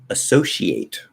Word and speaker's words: associate: it doesn't matter okay americans will say associate with two s's we'll say associate where that c becomes an sh sound um let's see yeah